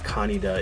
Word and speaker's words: Kaneda: Kaneda is how they pronounce him in the Pioneer release.